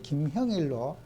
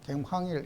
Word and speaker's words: 김형일: 우리가 사람의 이름도 아 제 이름이 김형일 있데 막 미국 사람이 발음이 한머리 어려워도 제 이름을 김형일 불러 줘야 돼요 막 김황일 이래도 그냥 노력은 해야 되잖아요 그죠 발음이 안 돼도서